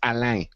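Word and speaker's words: Alain: archinist yes it's not it doesn't rhyme with with Elaine the the lady's name it's Ali I know even people at piso pronounce it that way but it is a French name it is the French version of Alan it's alang Al alang I alang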